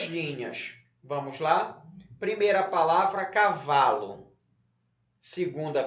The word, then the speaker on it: cavalo: Cavalo. Então, você vai fazer um traço em cima, em cima não, embaixo da sílaba vá.